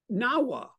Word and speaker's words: Nawa: Amat Lion's name was Nawa. Nawa rhymes with Nadawa.